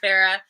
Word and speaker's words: Chris Farah: CHRIS Farah. The H is silent in Chris. And last name Farah, Farah.